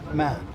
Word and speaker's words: 慢: the side so the character for slow is man okay so there's a heart and there's a